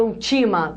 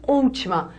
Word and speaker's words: última: língua não vai errar ninguém fala TIM ninguém fala útima todos falamos última Então esta é a